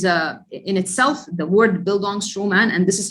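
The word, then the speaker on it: Bildungsroman: uh bildungstroman is a in itself the word build on stroman and this is how it's pronounced by the way it's a german term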